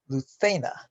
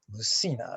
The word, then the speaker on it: Lucena: as the salvia position you might notice that i'm pronouncing luthena's name luthena instead of lucina or lucina both of which i've heard at one time or another a brief internet search before making this video makes me think that the right pronunciation is luthena so that's what i'm